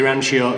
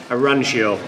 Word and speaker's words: Arancio: We've got the orange interior, so the Rancio interior, Performante trim. How do you pronounce that orange? Arancio. Arancio. Yeah, Arancio. So that is orange in Italian, basically.